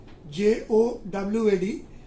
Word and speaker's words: Jawad: formed into cyclonic storm, name given as Jawad, pronunciation Jowad, and name is Jawad, and by tomorrow it is expected to reach North CAP and Odisha coast area.